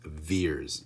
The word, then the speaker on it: Vers: she is verse fears v ER s pronounced fears and throughout the movie